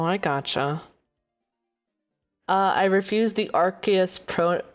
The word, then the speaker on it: Arceus: Yeah, so the three most popular ones, well, everybody used to think it was Arceus with a soft C. Uh-huh. And then I think in Revolution, it pronounced it as Arceus. Yeah. But I think the official pronunciation is Arceus. Arceus.